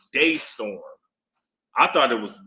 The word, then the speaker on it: DeStorm: Yeah, it's Yeah, but it's pronounced Daystorm. I thought it was Dtorm.